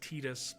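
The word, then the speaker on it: Tidus: I don't understand the reason why it's Tetus, but I get the reason why Titus makes sense. I never got the reason why Tetus makes sense. Though, I do acknowledge the fact that Tetus is the canonical way to pronounce it.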